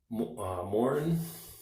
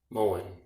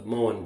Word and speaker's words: Moen: the water line, which then clogs up this Morin. Is that how you say it? Let me find the tap here. Yeah, Moen, the Moen brand, which I haven't dealt much with.